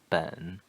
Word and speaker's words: 本: measured word for books the pronunciation third tone the low tone ben so theoretically the third tone goes down and then goes up but that's only in